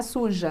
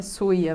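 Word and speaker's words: sucia: E não é suja, né? É suia mesmo. A pronúncia que é diferente.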